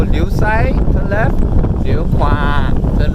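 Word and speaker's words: ขวา: One good way to remember how do you say kwa is you remember frogs. So kwa, kwa, kwa. So liu kwa. Yes. So liu sai turn left, liu kwa turn right.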